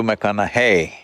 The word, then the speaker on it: McConaughey: try the second name uh mcconnell hey rhymes with what would madonna say so so i know you're matthew mcconaughey but do i know